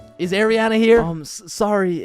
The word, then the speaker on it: Ariana: Ariana? Is Ariana here? Sorry, it's Ariana. Okay, and? Like what's your point? That's just how it's pronounced.